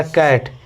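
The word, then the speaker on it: cat: तो यहां पर चैट नहीं होगा। यहां पर कैट होगा। यहां सी का उच्चारण क होगा।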